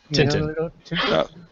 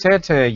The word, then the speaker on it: Tintin: that Tintin well say Tintin then you non well it's pronounced tantan you Brit